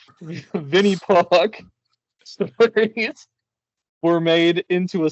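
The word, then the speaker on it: Винни-Пух: Uh, pronounced as Vinnie, my pardon my Russian, Vinnie Puck stories were made into a celebrated trilogy.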